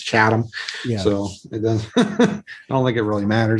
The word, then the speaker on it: Chatham: pronouncing that right i most of the locals here say chatham uh but i i think you know i people say chatham and yeah i think if you're from new england it's it's chatham so it does i